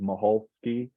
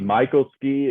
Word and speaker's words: Michalski: Well, it's a Polish name, but I can't pronounce it the correct Polish way. So this is the Southern way that I would say it, Michalski. But it can be Michalski, it can be Michalski.